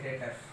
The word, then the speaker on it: debtors: आप डेप्टर्स भी बोल सकते हैं और डेटर्स भी बोल सकते हैं, बी साइलेंट है।